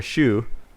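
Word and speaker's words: choux: inside there's a particular shoe c h o u x is how you spell it but pronounce like shoe like on your foot again very european bass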